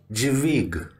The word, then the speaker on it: dźwig: Another one is the combination of D and the letter Jet, and you should pronounce it as G, G, like dźwig, dźwig, dźwig.